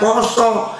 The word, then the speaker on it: pasa: Terus saya ngikuti berita itu saya sebagai orang Jawa, oh pasa dibaca poso harusnya karena orang Jawa kalau nulis A itu bacanya o.